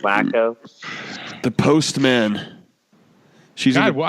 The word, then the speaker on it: Waco: No, Chip and Joanna live in Waco, Texas. Oh, I thought their shit's in Gainesville. Pronounced Wacko.